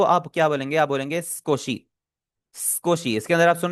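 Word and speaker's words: すこし: आवाज नहीं निकाल रहा मैं इसे सुकोशी नहीं बोल रहा सुकोशी नहीं बोल रहा मैं मैं बोल रहा हूं स्कोशी तो आप भी स्कोशी ही बोले जो बीच वाला उ है वो हमारा साइलेंट होगा ठीक है क्योंकि जो जैपनीज़ नेटिव्स होते हैं वो इसे प्रोनाउंस करेंगे स्कोशी वो इसे सुकोशी नहीं बोलेंगे नेक्स्ट है नॉट एट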